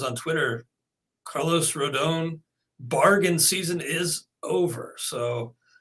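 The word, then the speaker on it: Rodón: 12 minutes ago left-hander carlos rodon i guess rodon better pronunciation but he's in agreement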